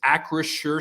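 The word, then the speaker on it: Acrisure: there you go and it's almost it's spelled almost as if i would say are you sure but that's actually just how it sounds as well yeah been a lot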